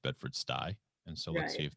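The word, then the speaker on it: Bedford-Stuy: you told me not so it called it bedford stewie first of all you can hear now that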